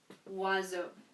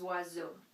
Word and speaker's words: oiseaux: So les oiseaux, but it's actually les oiseaux because this OI, even though it looks like a vowel, it is a vowel, it's pronounced W. OI is a W sound in French.